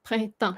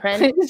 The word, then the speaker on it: Printemps: Printemps. Printemps. Just keep remembering that. Printemps.